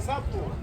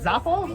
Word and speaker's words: sapo: Is it Zapo? Sapo. Lizard?